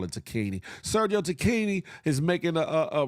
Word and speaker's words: Tacchini: I'm liking the fact that Sergio Tacchini, I know it's how it's supposed to be pronounced. I call it Tacchini.